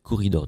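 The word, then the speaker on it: Quoridor: et je commence donc avec corridor donc corridor ça s'écrit Q u O 2 R I 2 I d o r c'est un jeu euh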